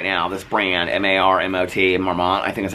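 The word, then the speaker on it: Marmot: I don't know, but I would tell you right now, this brand, M-A-R-M-O-T, Marmont, I think is how you pronounce it, I would 100% go for it.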